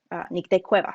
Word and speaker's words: Nicte Cuevas: be able to record your voice and say nick de cueva so that way anyone who is curious and